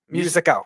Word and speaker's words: Musico: Musico. Just music with an O.